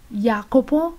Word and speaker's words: Jacopo: se encuentra en italiano la yota es rara la podemos podemos encontrarla en nombres de persona como jacopo o nombres de ciudad como Yesi la lettera k k